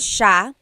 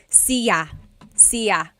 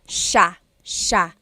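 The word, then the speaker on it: siya: to point out about sha. First is the pronunciation. It looks like it should be pronounced sa cia, but it's actually pronounced sha sha. So the s i y, it's a sha sound.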